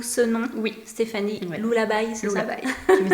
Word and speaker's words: Lulla: Je prononce bien? C'est Lullaby.